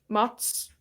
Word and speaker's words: Mads: How do you say his name? Mats. It's Mats? Okay, I always thought it was Mads Mikkelsen.